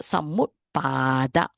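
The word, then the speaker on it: Samuppāda: So you cannot pronounce Samu. It's not mu. Samut. There's an ending with a P. Okay? So Samut. Pratikcha Samut Pada. You have to pronounce a long A here.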